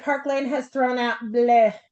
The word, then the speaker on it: bleu: Third week is normally a quiet week, but Park Lane has thrown out bleh. I love to say it like that because I guess it's French. Blue, B L BLEU, right?